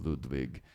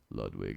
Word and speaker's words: Ludwig: Tama or Yamaha or Ludwig Ludwig it's not like van Beethoven I mean you can say it like that but they're just